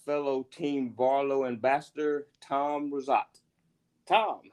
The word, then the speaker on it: Rizzotte: team Barlo Ambassador Tom rosat Tom how are you doing today good Eric how are you I am great great and I pronounced your name last name correctly yes you did thank you for coming